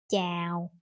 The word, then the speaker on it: chào: Unlike that, in Vietnamese, for example, the A and R together, that is pronounced ow. That is pronounced like out in any other words. Like for example, in this word chào and in this word cao.